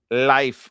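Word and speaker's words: Leif: Actually, it's pronounced Life. I know. That's how they call it. They call it Life Ericsson. Yeah. Life. But it's Leaf in the United States.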